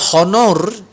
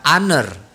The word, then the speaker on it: honor: owner to meet you jangan dibaca honor tetapi dibaca under diucapkan Under the Hai